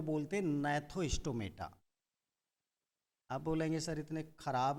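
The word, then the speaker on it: Gnathostomata: एग्नेथा, और दूसरा जो डिवीजन है उसका नाम है नैथोस्टोमेटा। जी साइलेंट होगा, नैथोस्टोमेटा।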